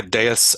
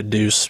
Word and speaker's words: deus ex machina: or this Deuce X how do you say deus ex machina um I think it's Deus right because it's got God Act of God yeah most people say dudes most people say Deuce yeah I do too